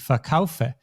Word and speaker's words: verkaufen: And in this case, the stress is not on the syllable, but on the kaufe, on the second syllable, ich verkaufe.